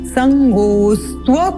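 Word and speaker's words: सङ्गोऽस्त्व: पुनः यहाँ पर अवग्रह का चिन्ह है, इसको जोड़ते हुए उच्चारण करेंगे। संगोस्त्व कर्मणि मा कर्म फल हेतुर भूर्मा ते संगोस्त्व कर्मणि।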